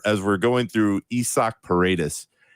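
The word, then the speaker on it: Paredes: what it's thid so let's try to hammer this pronunciation down paradus Bingo caps nailed it that is the man's name that is what everybody should call him not not Isaac not paridis right let's remember this paradus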